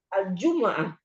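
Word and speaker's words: الجمعة: Hari Jumat enggak ada yang panjang. Tekaninnya di aljumah. Alju di huruf ju. Ju pertama. Heeh. Di huruf jim. Heeh. Betul. Ju ini di ju alif lam enggak dihitung ya.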